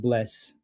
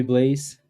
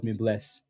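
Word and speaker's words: Blaise: So like it's actually pronounced like bless, you know? Like everybody calls me Blaze. That isn't, from yeah. But anybody that's French calls me bless. Because that's what it's, yeah, it's meant to be like that.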